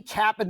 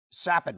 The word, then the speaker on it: Capan: Ascension of their game Frankie Kapp in the third is one of those new players sappin I should say is how you properly pronounce his name you probably do recognize